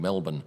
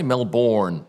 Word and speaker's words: Melbourne: So that's a bit of a wrap on what happens before the season gets underway in Melbourne, or as the US people would say, Melbourne. It's definitely pronounced Melbourne.